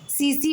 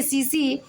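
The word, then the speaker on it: tsetse: सीसी मक्खी यहां पर इसको पढ़ेंगे सीसी या आप से से भी पढ़ सकते हैं लेकिन इसको सीसी फ्लाई पढ़ा जाता है क्योंकि यहां पर टी साइलेंट होता है।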